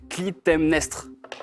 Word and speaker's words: Clytemnestre: Clytemnestre. Bien prononcé.